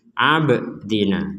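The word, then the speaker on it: عبدنا: Ribim mimma nazzalna ala abdina. Di sini ada ba sukun, kita bacanya dipantulkan. Jadi, abdina tidak sekedar ab.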